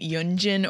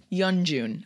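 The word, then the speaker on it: Yeonjun: reactions someone mentioned that I kept saying yunin or Yun Yun Jin I know it's Yun Jun I know but sometimes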